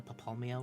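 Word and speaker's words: Papalymo: Like how they've been pronouncing it Papalimo. Uh, so far, and it changed and it changes to Papalmio or something.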